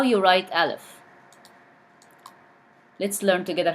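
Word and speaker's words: ألف: Alif. Please repeat after me. Alif. And it pronounced as A in English.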